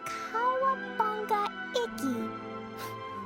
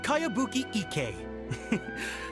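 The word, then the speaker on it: Kayabuki Ikku: By Kawabunga Iki. Yoimiya, this is a really strange name. Who's this Kawabunga? It's pronounced Kayabuki Ike.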